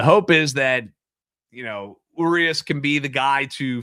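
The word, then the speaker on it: Urías: Urias. Everybody says it differently. I don't even know if there is a right way, but Urias is kind of how phonetically it's spelled.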